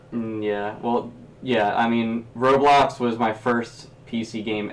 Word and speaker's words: Roblox: sucker roadblocks blocks like you were trying to say Roblox yeah I call it roadblocks oh oh wow the